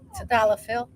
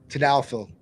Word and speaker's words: Tadalafil: Some people do Tadalafil. Proper pronunciation is Tadalafil. Tadalafil.